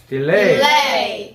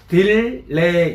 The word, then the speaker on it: delay: del레이 delay del레이디 할 때 우리 말로 그냥 딜레이 이게 아니고 애를 이첨장에 붙여야 되니까 이런 느낌이에 거의 디을레이 느낌이라면 따라서 해보세요 따라서 해보세요 delay del레이 그렇지 꼭디레이 하는 것처럼 발음해야 돼요. 혀를요 붙여야 돼요.